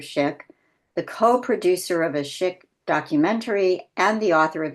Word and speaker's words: Szyk: Polish Jewish artist Arthur shik it's pronounced shik even though it's spelled s z YK I'm the